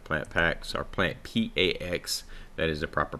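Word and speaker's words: PlantPAx: could have it look like plant packs or plant PA ax that is the proper pronunciation for that um in this indication so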